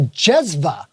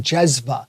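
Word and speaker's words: cezve: copper pot called a jezva. Now, when we see in Turkish, when you see a C, it's actually pronounced like a J. Oh, J. Which is quite interesting, jezva.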